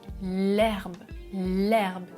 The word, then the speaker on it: herbe: C'est un H muet. Je dis l'herbe et au pluriel des herbes. Je fais la liaison.